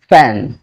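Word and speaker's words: fan: এটা কিন্তু ফ্যান নয়, এটা সঠিক উচ্চারণ হচ্ছে ফ্যান। ফ্যান ফ্যান ফ্যান অর্থাৎ আমার এই যে নিচের যে ঠোঁট আছে সেটি উপরের দাঁতের সাথে লাগবে।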